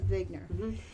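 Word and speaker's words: Wigner: there's a whole science WI GN ER and they pronounced a big nur so radiation effects metals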